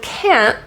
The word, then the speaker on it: can't: point me to Atlantis the word can't that t is pronounced as a glottal te can't can't at at